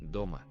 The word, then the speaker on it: дома: Дома. Дома. Дома. Don't forget to repeat. Дома. So we have two syllables, do and ma. Which one has been stressed?